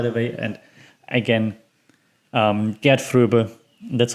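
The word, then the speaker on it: Gert Fröbe: james bond by the way and again um get through that's how you pronounce it get through as goldfinger um then the next one on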